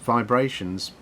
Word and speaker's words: VIBErations: uh vibrations podcasts part one in the beginning hi i'm gary brightman and this is my weekly podcast pronounced vibrations but spout vibrations well after all there will